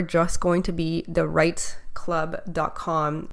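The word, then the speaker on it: REITE: going to be the right Club calm right is spelt REI te so it stands for real estate investing training and education club and so really really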